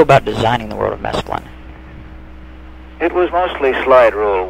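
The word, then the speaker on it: Mesklin: how you designed and built the world of masculine am i pronouncing that right that's right how did you go about designing the world of masculine it was mostly slide rule work part of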